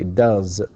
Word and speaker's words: does: Similarly, of course, it ends with vowel, so we say does, and it's written S, of course. It looks like S, but it is pronounced Z.